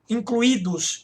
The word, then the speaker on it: incluídos: O I separado do U, sílaba tônica sozinho, isso é um hiato. Acentuam-se o U e o I tônicos, formando sílabas sozinhos ou seguidos de S. Incluídos, isso é um hiato.